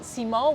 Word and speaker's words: Simò: has any connection, but it's called Simò with an accent on the O, and that's how Romans would call people called Simone in Italian, because Romans have this tendency to just cut the end of every name and just put an accent on the last syllable.